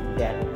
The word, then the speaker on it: debt: इसको डेट कहेंगे. इसमें बी साइलेंट है, डेट.